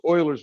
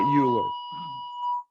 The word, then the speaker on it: Euler: going to say use euler's method and that is how we pronounce it by the way not euler yeah back in the day in houston uh they called their math club the houston oilers and they spelt it